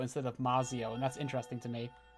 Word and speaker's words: Mazio: The fact that you're pronouncing the Z like it's like a TZ is interesting to me. What? Like you're saying Matsio instead of Mazio, and that's interesting to me.